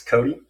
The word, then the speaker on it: Kothe: Kyle, did I pronounce the last name correct? It's Cody. Cody, I'm sorry. So it's Cody.